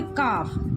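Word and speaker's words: calf: देते हैं ठीक है जैसे काफ सी ए एल एफ इसमें एल साइलेंट रहेगा काफ काफ मींस बछड़ा गाय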